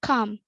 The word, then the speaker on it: come: There is, however, also another less common pronunciation of O, namely, for example, the word come is pronounced come, is the same sound as in but.